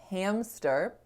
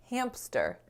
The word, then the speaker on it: hamster: m and the s if someone's lips release air but the vocal folds are off because they've turned off in preparation for the s then it won't sound like hamster it'll sound like hamster hamster you're accidentally inserting a sound right there just because of those few milliseconds in which your vocal folds are off and then the m ends up sounding like a p so i looked up